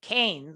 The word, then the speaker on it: Keynes: I was always taught Keynes, like brains, idea of, injecting money in the economy, particularly when the economy is going slow.